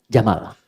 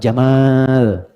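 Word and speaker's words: جمل: Pendek bacanya, jamal, bukan jamal.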